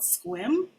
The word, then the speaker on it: Sequim: There's a little town up there on the corner before you get to Canada called Sequim. Sequim, I think that's how you pronounce it.